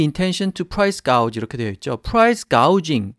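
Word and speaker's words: price gouging: 프라이스가 우즈 이렇게 되어있죠 프라이스 가우 징 지오 유지 인데 발음을 조금 주의하시고요 파이스 가우 징 이라는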